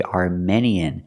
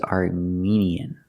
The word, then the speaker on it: Armenian: Armenian food but remember we do not say Armenian it is Armenian one of our viewers